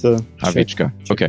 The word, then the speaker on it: Hlavicka: Yeah, I'm Hlavicka. It's a Hlavicka.